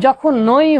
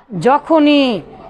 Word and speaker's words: যখনই: মানে যখনই তাহলে যখনই এর উচ্চারণ কিন্তু যখন নই হবে না ঠিক আছে কি হবে